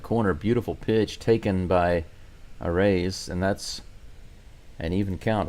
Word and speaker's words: Arraez: I hear the commentators saying awry. I've been calling Arraez, but Arraez, I suppose, is the correct pronunciation.